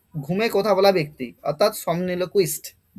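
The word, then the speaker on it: somniloquist: দেখো এটার প্রনান্সিয়েশন কি হবে সমনিল ও কুইস্ট সামনিল কুইস্ট আচ্ছা সমনিল কুইস্ট এই ওয়ার্ডটা আসছে সমনাস আর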